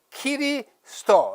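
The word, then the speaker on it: キリスト: 일본어에는 으라는 모음이 없기 때문에 에, 이, 오, 우밖에 없잖아요. 없기 때문에 그리스도 또는 그리스도라는 표기를 할 수가 없어요. 그래서 키리스도 이렇게 합니다. 수라고 했지만 그 사람 발음은 키리스도라고 그렇게 발음해요.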